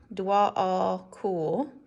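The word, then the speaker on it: Djwal Khul: Jwal Cool, pronounced Dwal. Okay, Dwal. Dwal Cool, known as a Tibetan Buddhist master.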